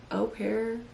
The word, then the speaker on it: au pair: Au pair? Au pair, yeah. Au pair. It's French. Au pair, au pair.